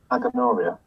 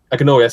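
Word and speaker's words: Agenoria: Aganoria. Aganoria, yeah, that's right.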